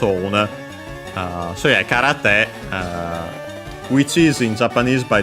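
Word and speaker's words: 空: Literally, it's a compound from Kara, accent on the last mora, on its own, which means empty.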